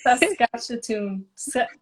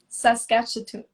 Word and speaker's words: Saskatchewan: Janice, how do you pronounce that? Saskatchewan. Saskatchewan.